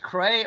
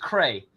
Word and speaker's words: Krey: Uh, Agent Cub says, "Is this pronounced Cray or CRE?" Like a key. It's pronounced Cray.